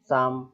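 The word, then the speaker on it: psalm: और देख लीजिए एस के पहले पी आ रहा है ना, साम, भजन।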